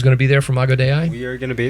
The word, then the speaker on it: Imago Dei: Imago Dei, or am I pronouncing Day. it? Imago Dei.